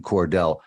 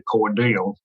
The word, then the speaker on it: Cordele: was a stop in Cordell tell us about Willard king and the discovery he makes I will and um you know down here at South we pronounce things differently it's actually cordial okay great thank you